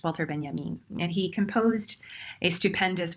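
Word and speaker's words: Walter Benjamin: space is somebody who is whose name is pronounced walter ben yamin and he composed a stupendous work of interdisciplinary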